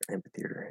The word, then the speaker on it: amphitheater: word um amphitheater amphitheater so i would actually probably more commonly pronounce this amphitheater with without a instead of it's just a p um which some people would probably say is wrong uh i don't really think there's anything wrong with that um but if if i were to more clearly enunciate the word uh then i would get that that ph amphitheater it's just like